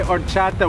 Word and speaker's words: horchata: Agua de horchata with an H. Horchata, H is silent.